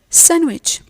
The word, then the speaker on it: sandwich: We mentioned before that the D is silent in some English words. Yes, definitely. It's in words like handkerchief, handsome, Wednesday, and sandwich.